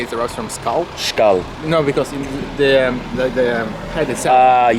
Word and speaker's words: skål: Or what do you say before Skål. you do? Skål. Yeah. Skål. Actually, it derives from. Some people say it derives from skull. Skål.